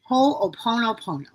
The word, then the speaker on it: Ho'oponopono: And can you pronounce it again for us? Ho'oponopono.